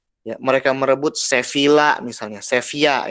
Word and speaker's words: Sevilla: Ya, mereka merebut Sevilla misalnya, Sevilla ya bacanya, tulisannya Sevilla, bacanya Sevilla.